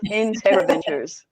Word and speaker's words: Integriventures: Those five syllables, Integriventures.